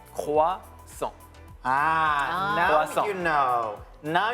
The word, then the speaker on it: croissant: So croix, and then A-N-T. We don't pronounce the last letter. Okay. All right. So it's croissant.